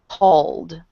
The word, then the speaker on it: called: The word call has L voice L letter at the end. It is L. L. It's voiced sound. So therefore, for past we pronounced we add a D sound at the end, called.